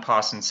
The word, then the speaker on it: Pawson: photograph obviously of John Paulson's house no I am NOT saying my name incorrectly it's Paulson I do not have a speech impediment so I'll show you